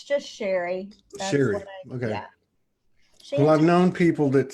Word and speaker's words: Cherie: in missouri right so i was never called cherie it's sheree um yeah so it's just sherry well i've known people that spell it that way and they some pronounce it